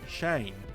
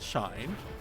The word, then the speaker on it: Shane: Shine," and he said, "Say it properly. It's Shane, not Shine."